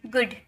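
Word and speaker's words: good: Look look है ना जी double O डी गुड गुड गुड नहीं गुड गुड।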